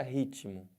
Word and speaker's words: ritmo: quero dizer com isso olha a palavra ritmo Eu tenho uma consoante eu tenho outra consoante uma do lado da outra e cada uma tem o seu som eles falam que esse T aqui é mudo né mas não tem nenhuma letra que fala então dentro desse negócio de mudo se você ouve o t ele tem som se você ouviu ele